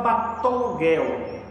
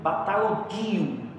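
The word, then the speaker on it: βατταλογέω: um verbo grego chamado, os professores geralmente falam batologuel, geralmente as pessoas do grego falam, mas no grego mesmo a pronúncia seria bataloguio. Mas tudo bem, batologuel, batologuio não faz diferença.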